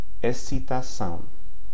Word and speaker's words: excitação: Excelente, excitação. Okay? So it's a little bit hard to predict that one. XC before E or I has an S sound. Excelente, excitação.